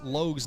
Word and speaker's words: Logue: Um been saying uh Chris Logue's name wrong, but saying Loge Logue is how it's meant to be pronounced.